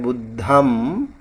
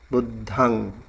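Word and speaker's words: buddhaṃ: And these are like buddhang. It's like a nasal sound, and you don't really close your lip when you say like Amrut. I heard him pronouncing like buddham. You don't have to close your lip, you have to open it, buddhang.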